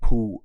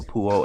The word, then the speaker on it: Peux: poo dash os and i hope i'm pronouncing it right but based on what google stated when i put it in there and played the audio for pronounce for the pronunciation for the actual word it said poo which is kind of